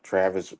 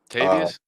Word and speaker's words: Tavius: guys they had like Travis uh was it Robinson Travis Robinson o tavius tavius my bad tavius my bad said his name wrong Tav tavius is coming